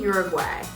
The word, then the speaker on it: Uwague: Miss Rosie Uwague. Hey! Did I pronounce that right?